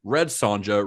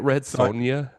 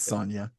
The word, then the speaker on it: Red Sonja: Barbarian and Conan the Destroyer he is in red Sanja Raw Deal The Running Man Predator did you say Red Sonja yeah is that not how you say it isn't it red Sonia it's Sonia is it Sonia did I did I spell